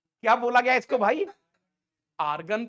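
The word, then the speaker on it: Argand: तो इस प्लेन का नाम दिया गया आर गंड प्लेन क्या बोला गया इसको भाई आर्गन प्लेन मतलब इसमें डी साइलेंट होता है आर्गन plane आर्गन plane treat as treat as treat as एज xy plane.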